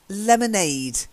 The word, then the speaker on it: lemonade: Then lemonade. It's got a long A at the end.